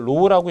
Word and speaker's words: rho: 우선 저항의 공식을 간단하게 써보면 지금 R은 우리가 이걸 Rho라고 읽고요.